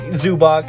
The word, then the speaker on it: Zubac: I always get his name wrong, but Zubac.